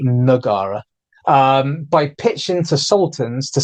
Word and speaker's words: Taman Negara: He established what we now call Taman Negara, which should actually be, I'm going to keep pronouncing it Negara out of habit, but it's actually Nagara, by pitching to sultans